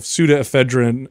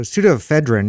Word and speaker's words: pseudoephedrine: trying to get this so pseudoephedrine is spelled with the ps i'm saying yeah just look up